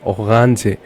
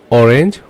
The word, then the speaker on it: Orange: Okay, orange. The spelling is same, but you have to pronounce it in different way. You don't say orange, you say orange.